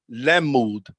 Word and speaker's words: lamud: Okay, so that is pronounced lemud.